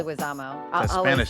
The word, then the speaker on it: Leguizamo: I always say his last name wrong, but Leguizamo. Leguizamo.